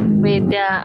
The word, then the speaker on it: Veda: Weda atau kata-kata tulisannya sih pakai Veda gitu, tapi kita bacanya Weda.